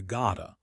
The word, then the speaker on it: gotta: The T sound changes. In American English, it becomes a flap T. It sounds like a soft D or R. Gota. I gotta go. It is much softer than got to.